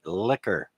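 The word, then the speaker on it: Likker: Me and My Liquor. And liquor is spelled L-I-K-K-E-R.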